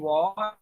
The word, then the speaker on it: 我: वाह पढ़ा है। Third tone.